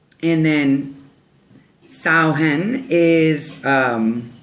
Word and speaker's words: Samhain: It's interesting because the way that it's spelled is actually S-A-M-H-A-I-N, but the way it's pronounced is Samhain, like cow.